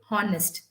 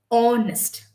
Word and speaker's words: honest: should never ever say honest we should say honest most of these words that have h o like are honest um okay we do not pronounce the h in that it's a silent letter so give me the